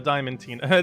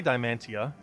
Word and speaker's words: Diamantina: I always want to say Diamantia instead of Diamantina. Yeah, Diamantina sounds about right. Diamantina? Yeah, that's how I normally say it. Diamantia. Instead of Diamantina. Because I normally say Diamantia. Which is a little bit less of an emphasis on the Tina.